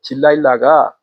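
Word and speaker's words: Delilah: 이런 노래가 이제 나와요 그 딜라일라가 들릴라의 영어 발음이에요 그러니까 거기서 드릴라 옛날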